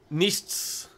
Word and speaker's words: Nichts: Oh, so Nichts. Okay. I just assumed it was going to be a silent S.